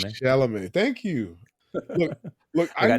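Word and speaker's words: Chalamet: T is silent.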